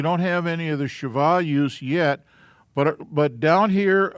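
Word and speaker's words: שווא: And this is a shava. I'll phonetically spell it. Sha. Va. And its pronunciation is eh.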